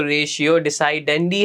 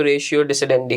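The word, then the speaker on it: ratio decidendi: इसकी प्रोनाउंसिएशन में आप थोड़े आगे पीछे कर सकते हैं, इट्स फाइन, क्योंकि इसकी इंग्लिश प्रोनाउंसिएशन में अगर हम जाएंगे तो रेशियो डिसाइडेंडी है, और अगर आप उसकी थोड़ी सी लैटिन प्रोनाउंसिएशन में जाएंगे तो रेशियो डिसिडेंडी है, सही है।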